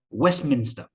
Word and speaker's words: Westminster: for example west minster we don't usually pronounce the t the t is uh omitted elided this is an example of elision so westminster westminster can you hear